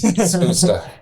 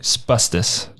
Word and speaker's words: Spusta: I originally was saying Spustus. Yeah. I was totally butchering it.